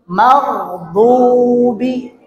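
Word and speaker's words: المغضوب: Maghdubi.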